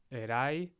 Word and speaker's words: erai: If not, it's a good guess it's on the second to last syllable, except for erai, right? That's a diphthong. The ai forms a diphthong, and the emphasis is on that syllable.